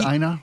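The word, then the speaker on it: Eina: Is it Aina? Aina? I think it's Ina. E-I-N-A. Ina Kwan.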